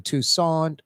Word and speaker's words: Toussaint: I gotta stop that Tucson Tucson like like Tucson Arizona maybe with a little D or t sound at the end slight but no saint Alan Tucson Allen Toussaint Alan Tucson Toussaint does